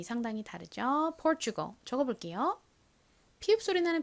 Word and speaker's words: Portugal: Portugal 적어볼게요. 피읍 소리 나는 P, 그 다음에 or 소리 나는 OR이 오고요. 그 다음은요. T가 옵니다. T는 원래 티읕 소리가 나는데 여기서는 치읓에 더 가깝게 소리가 난다고 말씀드렸고요.